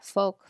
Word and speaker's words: folk: feel like at least the way I learned how to pronounce it in English I didn't really pronounce the L but in Norwegian you